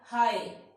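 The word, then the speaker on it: high: Like हाई, जी एच, ये दोनों ही silent हो गए, सिर्फ ये साउंड आ रहा है हाई।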